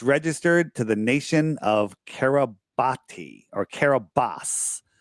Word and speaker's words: Kiribati: Well, so it's Kiribati is the name. It's pronounced Kiribati. Oh, it's pronounced Kiribati. I hate that it's pronounced, but it's spelled Kiribati with a T, with a B, but Kiribati with a B.